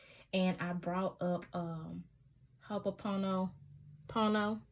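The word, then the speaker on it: ho'oponopono: i brought up um hope apono pono hapono pono i'ma say it right haponopono which in english means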